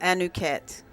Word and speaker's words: Anuket: her y'all but I'm going to let her pronounce her name fully will you do that for the audience certainly my name is anuket and the rest of that name was anuket